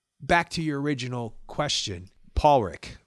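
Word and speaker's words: Pádraic: to your original question Paul Rick right yeah how do you say it okay I'm team Pollock here's why column destroys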